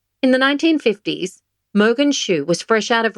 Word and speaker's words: Mogens: The correct pronunciation is Mogens Schou. There's a silent G in Moen. The year is 1951. Mogens Schou has just read a report on 10 patients whose mania resolved with lithium.